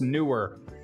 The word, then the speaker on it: Neewer: be talking about the newer photography studio box is it newer or newer it's spelled knee wear but apparently it's pronounced newer i don't know i